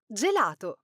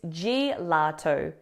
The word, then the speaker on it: gelato: It is gelato. Attention. The incorrect pronunciation here is gato.